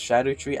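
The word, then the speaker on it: Scadutree: It's pronounced Shadow Tree, I don't know why. It's spelled Scadu, I don't know, it's weird.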